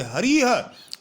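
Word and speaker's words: हरिः: जैसे हरि को शब्द जो लिखा हुआ है, आप इसे हरि नहीं बोलोगे, हरिह।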